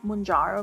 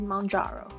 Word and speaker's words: Mounjaro: I was saying Mounjaro before, but then when I watched like the instruction on how to take it, I heard Mounjaro, like mountain, Mounjaro.